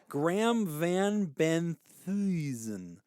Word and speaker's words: Van Benthuizen: Graham Van Benthuizen. That's how you get it. You gotta curl up your toes when you say Thuizen.